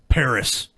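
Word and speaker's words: Perris: dead indians we just killed let's call it Paris give it a European flavor how did them Frenchies spell it P e r r i s yeah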